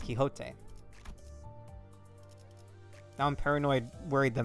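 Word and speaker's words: Quixote: Again, if I hear even one of you pronounce that as quicksotti, busting your shins, it's kiote.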